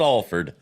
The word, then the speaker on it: Alford: It's always a brain freeze because it looks like Alford, but pronounced Alford.